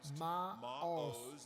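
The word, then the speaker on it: מָעוֹז: de las fortalezas entonces esa palabra fortalezas se pronuncia maos el original hebreo del Antiguo Testamento es una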